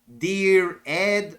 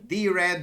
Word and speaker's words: Dired: directory editor of emx in one word dear Ed or if you want to pronounce it like other ordinary English words D that would be the idea DED or di it doesn't really matter by default um died